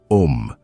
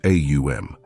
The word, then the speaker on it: Aum: Aum, not Om, as it's casually uttered, but Aum.